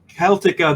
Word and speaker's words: Celtica: You also know her from Pandora Celtica, the 4-part Celtica. There's no soft C in Gaelic.